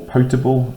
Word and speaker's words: potable: So potable water, or potable as it's sometimes pronounced, potable, water that's safe to drink.